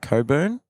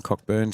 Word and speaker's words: Cockburn: I know for sure Peter's from Coburn in WA. Yes, and I did pronounce it incorrectly a number of times.